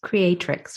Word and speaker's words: Creatrix: of your new book creatrix Rising I'm sorry I keep on saying pronouncing it wrong but it's creatrix right creatic right yes and it's called unlocking